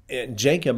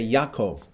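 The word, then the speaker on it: Ya'akov: say Abraham you know I'm not going to say um Jacob I'm going to say Yakov okay I'm not going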